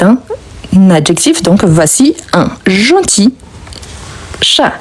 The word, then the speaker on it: gentil: Donc voici un gentil chat. Le L ici, on ne prononce pas, ok?